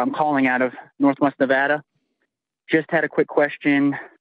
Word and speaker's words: Nevada: question apparently I valve I've always been mispronouncing Nevada I've been calling it Nevada and they get real bitter it sparingly it's Nevada so shots everyone in